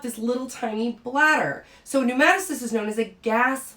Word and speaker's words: pneumatocyst: and this is a pneumaticist pronounced with an n but spelled with a pn so the p is silent but this is a